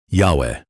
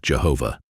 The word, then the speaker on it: Yahweh: Say his name, Yahweh, not Jehovah.